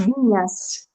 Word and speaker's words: Viñas: got that Yeah, the that squiggly line is an enye, so it's pronounced Viñas. Viñas. Okay, so I Viñas. said Vinas, so I'm way off.